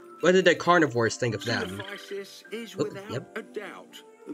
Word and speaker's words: Coelophysis: I think I constantly called it like it's like Coelophysis or something like that because it was like how I called coelacanth coelacanthus. Like the first 4 letters I pronounce it as coal instead of seal.